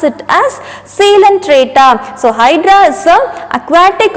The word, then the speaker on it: Coelenterata: Okay, so this hydra is also an aquatic organism and it comes under a group called as Coelenterata. It is not Coelenterata, you have to pronounce it as Coelenterata.